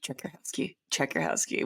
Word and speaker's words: Czajkowski: And I'm like, it's always been a conversation starter, but I'm in telling people how to say it. It's just like Czajkowski, which was like what